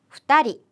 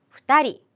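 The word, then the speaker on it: 二人: 해당하는 는 표현이죠 그런데 한 명과 두 명은 여러분 발음을 조금 조심해 주셔야 돼요 닝이 아니라 한 명은 히토리 히토리 두 명은 후다리 후다리 그리고 세 명부터 숫자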